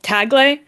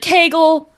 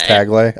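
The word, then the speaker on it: Tagle: care either way but everybody pronounced it like tagel like bagel which okay.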